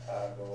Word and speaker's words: Kagoda: Kagoda. So that's what I went with, kagoda. Kagoda. Because That's how you say it's it? a more nasal D in his language than it is in Japanese.